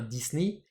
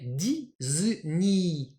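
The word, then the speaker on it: ディズニー: petit i par exemple dans Disney qu'on va prononcer alors en anglais Disney Mme Disney je crois donc en japonais Disney Disney et ouais Disney alors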